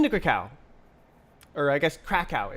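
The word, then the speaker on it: Kraków: I've been to Cacao or I guess KKow is how you say it in Polish.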